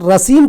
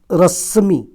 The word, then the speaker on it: रश्मी: आप रसीम बैठा दीजिए रश्मी ठीक है उच्चारण में गलत हुआ माफ कीजिएगा रश्मी बैठा दीजिए अब देखिए आपका हो